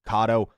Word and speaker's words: Kado: video you guys but it is pronounced kado not KO like I say throughout the video enjoy the rest of